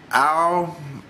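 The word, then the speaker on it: al-Megrahi: Well, because of the Lockerbie suspect, a free man, and let me pronounce his name because I was having trouble with his name. It's Al-Bassett Ali Al-Megradi.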